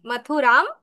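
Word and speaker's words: মথুরাং: হচ্ছে প্রয়াগাতাহা মাথুরাম এটা হচ্ছে ম তারপর রস তারপর আকার উপরে একটা ফোটা আছে এজন্য আমরা ওটাকে অনুস্বারের মত অর্থাৎ ম হসন্ত উচ্চারণ করছি মাথুরাম আবার আছে গাবন্ত মাথরাম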